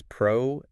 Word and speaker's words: pronunciation: So, the most common mistake I hear is people adding a noun sound in there. Pronunciation. Pronunciation. Yeah. Like it's related to the word pronoun. But that's not the case at all. Not at all. The correct way to say it is prnish. Pronncin. No noun sound anywhere in sight.